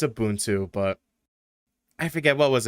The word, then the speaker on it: Ubuntu: And for those people who got tired of me saying Ubuntu, fuck you, it's Ubuntu. or it's Ubuntu, but I forget, what was it, GNOME or GNOME?